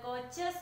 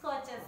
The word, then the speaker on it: coaches: Answer is coaches there. The coaches of the train were neat and clean. Here the word coaches ending with a S letter, but it pronounced as Z.